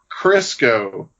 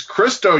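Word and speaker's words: Cristo: in the library is like the count of Monty krisco and they're like it's Christo you dumb nice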